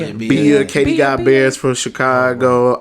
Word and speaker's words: Bia: Is that Bia or B-I? I didn't get it. Don't know how to pronounce it. It's Bia.